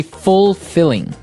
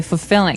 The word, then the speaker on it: fulfilling: You don't say fulfilling. No, you say fulfilling. Fulfilling. So the L there is kind of silent.